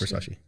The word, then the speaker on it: Versace: Yes, it's Versace.